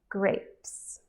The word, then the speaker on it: grapes: for yourself at home grapes great here do not get confused by the Es at the end we do not pronounce the E it's not grapes we